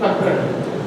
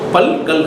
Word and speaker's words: பற்கள்: ஒருமைக்கு புலன் பன்மைக்கு பல்லு பல்லுன்னா நிறைய பல்லுக்கு பற்கள் பல்கள்னு தானே சொல்லணும் ஏன் பற்கள்னு சொல்றீங்க பல்கல் அப்படித்தானே சொல்லணும் ஏன் பற்கள்னு சொல்றீங்க ரெண்டு வாட்டி இல்லு கொஞ்சம் உச்சரிக்கும் போது என்ன ஆயிடுது கஷ்டமாயிடுது அதனால பற்கள் டீத் டூத் அந்த மாதிரி புலன்